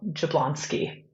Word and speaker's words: Jablonski: appreciate you asking that it is pronounced exactly as it's spell jablonsky jablonsky got it I